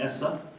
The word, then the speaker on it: ESSA: we looked the same as es si but pronounce it essa and so this was really huge because for